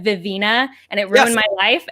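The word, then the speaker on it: Vivenna: it gave me a video where brandon sanderson pronounced vivena vivina and it ruined my life and i don't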